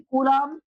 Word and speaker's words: Coulomb: Spelling COULOMB, कूलॉम।